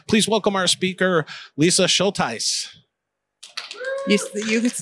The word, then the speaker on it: Schultheis: Please welcome our speaker, Lisa Schultheis. You pronounced it correctly.